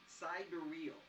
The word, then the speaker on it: sidereal: And then what's pronounced sidereal.